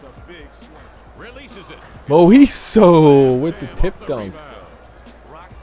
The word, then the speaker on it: Moiso: Moiso, that's how you pronounce it.